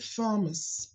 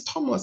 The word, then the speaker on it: Thomas: th into Thomas so I was say Thomas I thought I was cool and this woman looked at me my pastor then in Northern Ireland and she said no it's Thomas I said no no you're not you're missing the H it's right here I was doing the